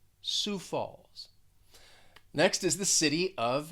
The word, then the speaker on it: Sioux Falls: sioux falls this is one where the the pronunciation just does not match up with the spelling it's almost like you have a silent i and o and x but just listening to me say it it's pretty simple it's pretty easy sioux falls sioux falls next is the